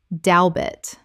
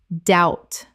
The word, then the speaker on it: doubt: d e t debt Word 184 doubt Common mispronunciation dowbit Correct pronunciation doubt The b is completely silent. It rhymes without and shout.